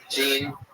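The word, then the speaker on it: Jeanne: it's Jean l Whitney but if you're going by my Annunciation of her first name you will not find her on Twitter so I'll spell that out for you it's spelled like thean j a n n e l Whit all one word Jean with a silent n and E after as a host I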